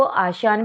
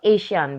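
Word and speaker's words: ASEAN: Okay, आप इसको आशियान भी प्रोनाउंसिएशन कर सकते हो और एशियान भी.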